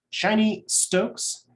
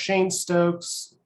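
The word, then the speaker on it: Cheyne-Stokes: it's like also pronounced shane stokes whatever i call it shiny stokes because it just it sounds purposely wrong um whatever lindsay says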